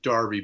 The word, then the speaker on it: Derby: They actually pronounce it Derby, but it's written Derby.